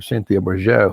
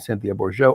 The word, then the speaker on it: Bourgeault: online and looking for Cynthia Bourgeau. It's spelled Bourgeault, the Reverend Cynthia Bourgeau, or Thomas Keating, and